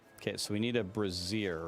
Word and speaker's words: Brazier: It's pronounced brazier, but if we call it brazier, then we can't call it Brazil, right?